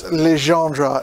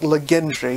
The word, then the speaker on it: Legendre: That's Legendre, not Legendre, as I so haplessly mispronounced in our prior episode.